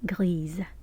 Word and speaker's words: grise: Unless the noun that you are describing is feminine, then it's pronounced Grise. The S is pronounced as if it's the letter Z.